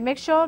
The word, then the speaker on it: mixture: So when I say mixture, let's pronounce the word mixture. It doesn't have a s, but it has a sh in it.